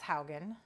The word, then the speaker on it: Haugen: topic today is Francis Haugen yes well said did I say it right properly spoken yes I think you're the one that taught me it's like house Hogan yeah okay who was